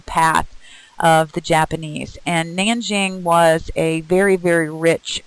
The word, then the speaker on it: Nanjing: a j' sometimes with a k' it still pronounced Nanjing so the rape of Nanjing and the comfort